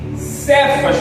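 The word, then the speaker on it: Kefa: também era chamado de cefas por Jesus que quer dizer Pedro cefas é fragmento de Pedra ou pedra pequena né cfas no aramaico é Cefa se far se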